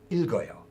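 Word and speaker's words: 읽어요: The polite form of that is pronounced as not ilg or yo, but ilgoyo.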